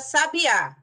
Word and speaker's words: sabiá: pra gente a palavra sabiá sabiá levou o assento porque é uma oxítona terminada em a Ok sab A